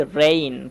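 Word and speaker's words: rain: যদি কোন ওয়ার্ডের মধ্যে এই এবং আই এই এবং আই চলে আসে তাহলে অবশ্যই এই এর মত উচ্চারণ করতে হবে।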